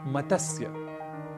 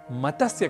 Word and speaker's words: मत्स्य: स्वर वर्ण नहीं है इसलिए मतस्य कहना तो अशुद्ध है हमें इसका उच्चारण करना चाहिए मत्स्य और संस्कृत में मत्स्य